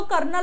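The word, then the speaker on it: colonel: हा जो कॉलोनिल म्हणजे आर्मी मधला जो कर्नल असतो बघा ना आर्मी मधला कर्नल पण त्याची स्पेलिंग बघा कर्नलची स्पेलिंग बघा आर्मी मधला सीओ एलओ एन एल आणि हा कर्नल म्हणजे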